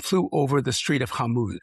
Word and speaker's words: Hormuz: to Dubai, and flew over the Strait of Hormuz, how do you pronounce it correctly? Hormuz.